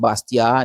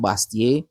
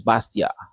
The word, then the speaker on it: Bastiat: His name is pronounced Bastia, not Bastier. The T is still silent at the end of his name. It's Bastia.